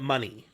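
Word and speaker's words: Moné: Ronaldo Mercedes Monet yes I think they technically pronounce it money I think it's an accent a grave not an Exon thank you Sante Q goes eh it's not ground goes e so I think it's Mercedes money I think technically anyways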